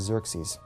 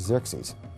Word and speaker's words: Xerxes: His Persian name, in Old Persian, which is his original native language, is Shayarsha. Now, that was hard for the Jews to pronounce, so they said Ahasuerus. We know him as Ahasuerus. And the Greeks said Xerxes, which is Xerxes.